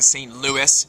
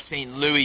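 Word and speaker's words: St. Louis: that was shot in St Louis not St Louis Europeans pronounced the S so that's what I'm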